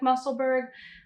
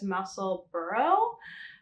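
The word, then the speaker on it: Musselburgh: might have also heard have heard it called the muscle bird hat because it looks like muscleberg but somewhere i don't know if i read it or heard it that the correct pronunciation is muscle burrow um from i think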